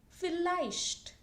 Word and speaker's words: vielleicht: So it's pronounced as F in German, even if you see V here.